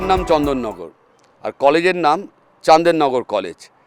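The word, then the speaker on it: Chandernagor: লক্ষ্য করি তখন সেই জায়গাটার নাম হয়ে যায় চান্দেরনগর বানানটা তাই সি এইচ এন ডি আর এন এ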